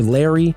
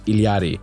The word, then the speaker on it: Illari: with the newest addition to the support roster, Illari. And I really want to call her Larry, but for those who are still confused about it, so many people complained about the correct pronunciation, Illari, that I decided to call her Larry to